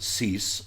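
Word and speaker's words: Suess: I think they pronounce it Cease on the broadcasts, but it looks like it really does. It looks like Dr. Seuss to me, because that's exactly how it is spelled.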